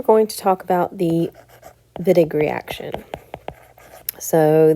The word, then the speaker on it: Wittig: Hello, today we're going to talk about the Wittig reaction. So, the pronunciation here is a V.